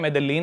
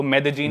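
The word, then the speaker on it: Medellín: एक सिटी है मेदजीन स्पेलिंग में उसमें डबल एल आते हैं मेदलीन होता है लेकिन कोलंबन स्पेनिश में ल को ज बोलते हैं तो मेदजीन वो शायद उसकी मेन सिटी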